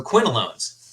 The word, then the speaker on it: quinolones: No, I will tell you what it is, but it rhymes with alone. So quinolones.